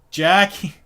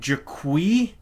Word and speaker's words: Jacqui: And it's funny how it's spelled, because it's spelled Jacqui. And when I first read it, I went, Jaqui? Jaqui Briggs? Jaqui, isn't that what Borat says? Like, Borat's always like, Jaqui, right? Yep. But it's Jackie, and it's like, ugh.